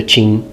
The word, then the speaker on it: Qin: the first emperor of the Qin Dynasty or chin Chow between 221 to 200